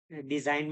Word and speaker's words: design: जैसे कहाँ G silent होता है, design में G silent हो जा रहा है.